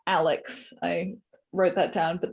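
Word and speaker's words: a11y.css: Also, it's apparently pronounced Alex.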